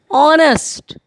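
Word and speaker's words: honest: और इनका जो कॉन्सोनेंट वर्ड है this is silent, that's why they will take vowel and they will take an.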